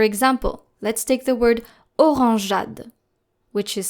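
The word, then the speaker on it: orangeade: So the soft g and then the e is silent and then the a.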